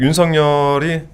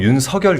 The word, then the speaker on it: 윤석열: 근데이 그 윤성열이 제가 이제 발음을 할 때 윤성열 이렇게 발음을 하거든요. 네. 근데 이제 대부분 윤석열 이렇게 발음하잖아요. 뭐가 맞나요? 그 아 이거는 한자로 보면 윤석이 맞는데 그 얘기를 하더라고요. 본인이 이제 원하는게 윤성열로 들리길 바랬다고.